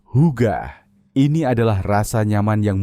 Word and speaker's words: hygge: Diucapkan, hygge, ini adalah rasa nyaman yang muncul saat segalanya terasa tepat.